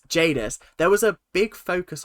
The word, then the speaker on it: Jadis: Jadis that I wasn't Jadis is it Jadis yeah oh god I've been saying it wrong all these years Jadis there was a big